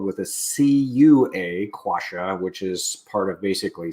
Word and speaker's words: quassia: And in fact, the first version I got was spelled with a C-U-A, quassia, which is part of basically cinnamon.